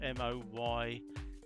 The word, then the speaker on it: Moyoda: design uh a modona i think it's pronounced m-o-y-o-d-a nice night it's uh i'll say it wrong and i said it's moyoda moyoda which i think is